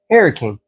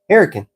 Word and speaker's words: Hurricane: West Virginia, there is a town named Hurricane, pronounced Hurricane. Hurricane.